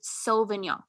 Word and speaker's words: Sauvignon: So she's like, you just have to pronounce it Sauvignon. Mm-hmm. She's like, it's not Sav, it's Sauve.